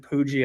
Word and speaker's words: Puig: I think he might play well is David David Puig, I believe is how you pronounce his last name.